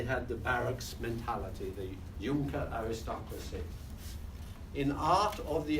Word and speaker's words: Junker: And the aristocracy was the Junker aristocracy, J-U-N-C-K-E-R, pronounced Junker.